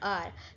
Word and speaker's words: hour: For instance, we say an R because H is silent, making O the first sound.